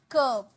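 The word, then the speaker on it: curb: रोक लगाना, कर्ब, इसे कर्ब, कर्ब नहीं, आर साइलेंट है, कर्ब, कर्ब, रोक लगाना, कर्ब।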